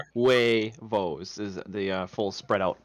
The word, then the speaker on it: huevos: because you say it huevos right huevos is the full spread out pronunciation but you say it in one consonant well and it's only two syllables it's not three i say that we